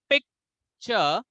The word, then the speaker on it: picture: So there are two syllable picture. So let's see where we need to put more emphasis. And the right syllable is pick. See, it's a very simple thing. Even if you stress on chur, people will understand. That's a different part. But we should know what is right. What is right pronunciation?